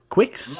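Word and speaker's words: Qix: pre-order for I I'm GNA say it wrong kicks Quicks how do you say it oh Quicks I call it Qui I call Qui Qui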